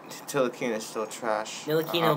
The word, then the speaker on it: Ntilikina: It's Frank Ntilikina. It's Ntilikina. The T is silent, people.